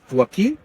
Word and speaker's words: Joaquin: I think the reason I know the name Joaquin is because of the actor. Phoenix. Joaquin Phoenix. He's done a great job for the people like me having this name for actually people to know how to pronounce it.